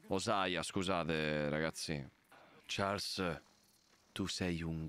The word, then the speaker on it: Hosea: Lenny e Hosea sono scomparsi, non si pronuncia "Osei". "Hosea.